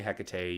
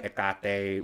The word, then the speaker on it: Hecate: You can say Hecate, you can say Hecate, you can say Hecate, which is the technical correct pronunciation because ancient Greek didn't have an H.